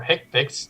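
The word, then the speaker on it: HCPCS: understand that Healthcare common procedures coding system or hick picks is pronounced take pics or we want to pronounce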